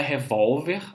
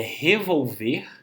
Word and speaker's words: revolver: Não é revólver aqui, tá? É revolver, porque se fosse revólver teria sim um acento, como a gente vê aqui, trata-se de uma palavra paroxítona.